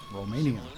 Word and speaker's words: Romania: Romania. And you have to say it with when you roll your Romania. R. You have to roll your R on that one.